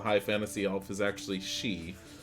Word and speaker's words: Sidhe: fantasy elf is actually she. So it's spelled Sidhe, but pronounced she.